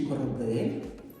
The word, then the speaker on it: корабель: Оце слово космічний корабель. Вони дуже різної форми ви знаєте. І так, слово корабель, корабель. Три склади. Ось так. Але чи падає наголос на потрібний третій склад?